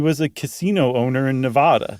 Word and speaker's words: Nevada: There was he had been given an honorary name by the Nevada Intertribal. Did I say it right? Nevada? Nope. By the Nevada Intertribal Council.